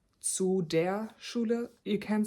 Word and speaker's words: Schule: And then school is Schule. So, right as in tschüss earlier, I said the s c h is pronounced sh. So, here it is again, the s c h which is pronounced sh.